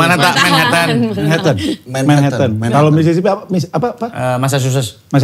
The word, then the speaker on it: Manhattan: Manhattan apa Manatahan dah bacanya? Manhattan.